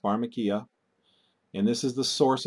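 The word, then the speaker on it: φαρμακεία: up its word it's word number 5331 it's pronounced phakia and this is the source of our English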